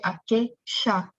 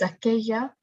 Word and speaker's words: aquella: But this man is from a place where they would say aquella, where the L sound becomes a sh sound. So the answer is aquella.